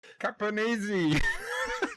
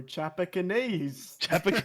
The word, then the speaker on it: Chapecoense: All right, Charles, What do you was want to try pronouncing this? Caponese. Sorry. Wait, say again. Sorry. I don't even know how to say it properly. Chapecoense.